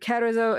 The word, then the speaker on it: Carrizo: Carrizo. Among the Carrizo. Is it Carrizo? How do you spell it?